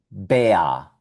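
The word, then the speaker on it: Bär: Y aquí tenemos un animalito en alemán donde también vemos la combinación de A umlaut con R y este animalito se llama Bea, Bea, y es un oso.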